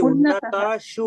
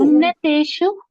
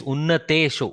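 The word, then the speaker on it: उन्नतेषु: What is the mistake here? It should be Unnatashu. Unnateshu. Bhagini is correct. Not Unnatashu also. It is Unnateshu.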